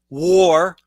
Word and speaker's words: War: Mohamadu war, as in I declare war on you.